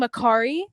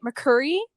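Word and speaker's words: Mercari: the Facebook marketplace and she was mispronouncing Macari she was calling it McCurry oh I was like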